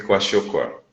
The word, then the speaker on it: kwashiorkor: muito bem o nome e a pronúncia, coache e marasmo. Marasmo e kwashiorkor.